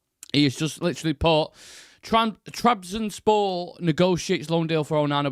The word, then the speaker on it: Trabzonspor: Shreyas, you might be best to pronounce that. Is that Trabzonspor? Trabzonspor.